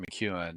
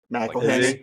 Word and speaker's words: McElhenney: And then there's Rob McEwen sitting like right there next, and he's short as fuck. McElhenney.